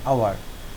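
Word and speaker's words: hour: এইচ ও ইউ আর আওয়ার, এখানে এইচের উচ্চারণ নাই, উচ্চারণ না থাকলে সেক্ষেত্রে আর্টিকেল হবে এন। অ্যান আওয়ার, an honest man, অ্যান অনার, এরকম।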